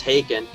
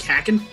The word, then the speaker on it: Haken: on their facebook pages it says haken and then it's like you know pronounced taken one taken to i didn't know how to pronounce it when i first i thought it was like hacking and then i saw